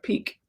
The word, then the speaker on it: pique: your idea of scrapping the trip out of pique. P-I-Q-U-E. I like the word, but I sometimes have trouble pronouncing it.